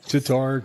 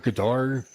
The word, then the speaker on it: Qatar: Kind of like Guitar. Qatar, Qatar. Tartar, Qatar. Like the Tar stuff, baby. I mean, I don't know. like the stuff you bring up in the morning, He just Qatar.